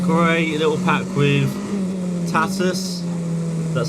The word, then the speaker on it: Tatuus: it got the core a little pack with tatis that's how you say it all of their